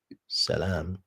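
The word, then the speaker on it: سلام: So as we can see the Bible is defining the word Salem which would be pronounced salam if it means peace.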